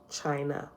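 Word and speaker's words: Chine'ya: here for jaffa where it says today is pronounced china right so here is spelled c-h-i-n-e apostrophe y-a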